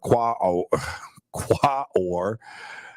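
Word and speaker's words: Quaoar: largest with Pluto being the biggest observations of qua or began by the way that's spelled q-u-a-o-a-r qua or uh began in 2018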